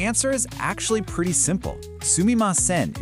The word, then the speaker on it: すみません: Sumi maen is the proper dictionary correct version. You use this when you're writing and in any situation that calls for politeness. Sumaen is basically just a more casual slur pronunciation that's easier to say.